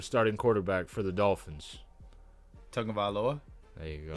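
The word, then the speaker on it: Tagovailoa: quarterback for the Dolphins tongue of aloa there you go it's tongue like tongue of Tong of aloa you're not getting you're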